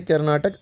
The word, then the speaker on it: कर्नाटक: ये पूरा क्या है कर्नाटका इसको कर्नाटक कहते हैं के ए आर एन ए टी ए के कैपिटल है बेंगलुरु हां